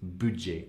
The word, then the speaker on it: budget: So budget, you don't pronounce the T in typical French fashion, but it's budget, avec un petit budget, I think she says.